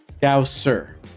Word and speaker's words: scouser: really hard David to to pronounce the S like a a full s sound trying really hard Scout sir as in yes sir yeah I know what